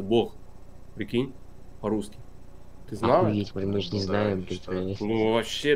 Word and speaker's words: Бог: той стороне нет нет в этом слове единственное единственное слово когда буква Г читается как г То есть когда я слушаю аудиокниги там есть слово Бог то он так и говорится Бог Прикинь русский ты знала